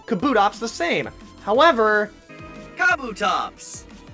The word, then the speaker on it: Kabutops: Kabutops! Kabutops, not Kabutops.